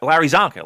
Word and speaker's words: Larry Csonka: and he couldn't he didn't know how to pronounce it and I was like Larry Csonka like the football player I counted that really